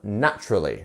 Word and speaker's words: naturally: have naturally very similarly we have this T which is then once again making that ch ch naturally naturally um so our stress syllable is our first one here naturally three syllables first one is the stressed naturally naturally